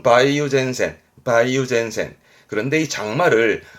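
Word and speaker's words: 梅雨前線: 써요 매우 전 작으니까 우리말로 뭐랄까 장마전선이죠 장마전선 발음은 바이오젠센 바이오젠센 그런데이 장마를 할 말이 좀 더 있어요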